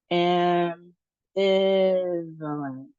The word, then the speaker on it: ambivalence: So, we have four syllables, it looks like. And the emphasis on the second syllable.